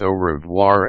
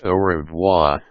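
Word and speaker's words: au revoir: For instance, some pronounce au-revoir as oh-revwha, but this is clearly wrong because the R sound has to be distinctly heard in a distinctly French style.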